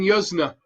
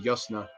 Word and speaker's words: Yuzna: Brian Yuzna. I would say Yuzna. I think it's pronounced Yusna. Turn of Living Dead.